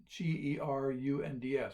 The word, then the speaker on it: gerunds: dummies books are gerunds g-e-r-u-n-d-s it's pronounced gerunds these are the so-called n